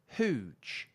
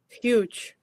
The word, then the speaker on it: huge: So if I put those sounds together, oo, ch, then it will sound like this: hooge. Does that sound right? It was hooge. No, it's it should be Y. Right. So there's a y, Y. then oo, then j.